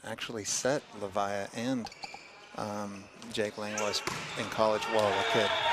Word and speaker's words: Langlois: I think he pronounces the S. Okay. Like, it could be either way, but I think it's Langlois.